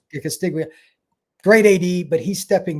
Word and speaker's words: Castiglione: For those that do not know, the AD, is it Castellone? I can't remember how you say his name. Castiglione, yeah. Castiglione.